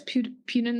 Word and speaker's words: Putin: Like, it just doesn't seem like real sometimes, Like, just people were commenting on, I guess Putin used to have, I feel like I'm saying his name wrong.